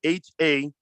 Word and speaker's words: haza: So I'm gonna give you the proper way to say it, right?